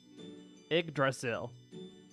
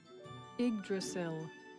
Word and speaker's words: Yggdrasil: Yggdrasil. Yggdrasil. Yggdrasil. Okay, that makes sense. That's a lot simpler to pronounce than I thought.